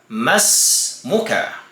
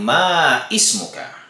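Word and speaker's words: مَا اسْمُكَ: po natin sa kanya, mas muka. Kung isang babae naman, mas muki. Ang nakasanayan po natin ay sinasabi nating ma ismuka, ma ismuki. At iyan po ay mali.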